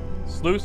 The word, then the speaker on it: sluice: terms of enemies so sluice rhymes with juice not lewis oh really it's just